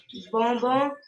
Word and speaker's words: bonbon: Bonbon. Balai. Ma'am, B-O-N will Yes. be beyond, like No, B. B-O-N will be, you pronounced it correct. That will be bonbon.